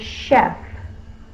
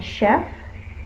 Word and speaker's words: chef: If you want to remember this one by heart, to remember that one is a French word, and so it's, the sh sound is spelled with the ch, and we do not double the f.